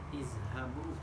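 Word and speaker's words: اذْهَبُوا: Izhabu. Kenapa dibaca izhabu? Dibaca kasrah karena huruf ketiganya fathah. Karena huruf ketiganya berharakat fathah.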